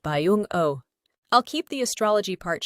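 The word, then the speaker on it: 병오: Jungkook's Daymaster is Yang Firehorse, and in Korean Saju, it is pronounced Byeong-Oh.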